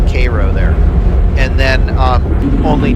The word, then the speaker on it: Cairo: coming from the Mississippi north of Cairo I think they pronounce it Koo there and then um